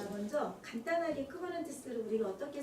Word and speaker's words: Kubernetes: 그리스어거든요. 이게 그리스어다 보니까 많이 알려진 단어가 아니니까 사람들이 여러 가지로 쿠비어니티스라고도 있고, 쿠버네티스라고도 있고, 쿠비니테스라고도 있고, 뭐 여러 가지 뭐 자기들 마음대로 읽었었죠.